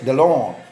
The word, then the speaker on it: Deslandes: I have a friend whose last name is Deslandes and he pronounces it Delon.